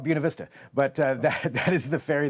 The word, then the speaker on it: Buena Vista: It's the Buena Vista Ferry, and I know if you look at that, the Spanish pronunciation is Buena Vista. Rural Oregon is called Buena Vista, but that is the